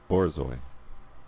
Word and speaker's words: Borzoi: How to pronounce Borzoi? Borzoi.